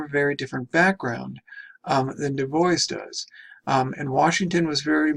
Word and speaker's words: Du Bois: Du Bois. And I know many of you will look at his name and think it's pronounced Dubois.